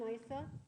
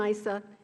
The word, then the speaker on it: Issa: little closer uh chairman Isa um if you recall after the president's speech Congress amended Issa okay so uh and since my name is normally pronounced Issa I'll interrupt at this